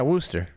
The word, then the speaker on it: Worcester: second City no no that is Worcester yeah Worster wow that's Worcester okay so there's a Worster Ohio as well but it's actually spelled w